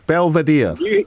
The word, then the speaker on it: Belvedere: Graham in Belvedere. Have I pronounced that right, Graham? Belvedere.